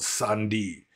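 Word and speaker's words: sandhi: process of combining words in poly is called Sandi which which is spelled s a n DHI and if you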